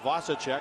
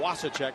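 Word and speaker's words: Vasicek: big Long Reach of Joseph vasichek or wasek as it's pronounced yeah they want him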